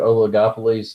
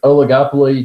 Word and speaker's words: oligopoly: into Oleg a police no it is not pronounced Oleg a Poli alright you can't I guess you want a tow case right okay so oligopoly just like an oligarchy the return Olli just means a few so what we're gonna